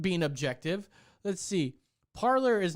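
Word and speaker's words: Parler: the founder the founder of parlor says it's parlor because gavin mckinley was like oh it's well that's supposed to be pronounced parley and he's like actually it's just parlor yeah he's like oh okay well i'll still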